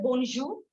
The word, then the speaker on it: bonjour: All of you have told bonjour. It is good day. Okay, we pronounce it as bon plus jour.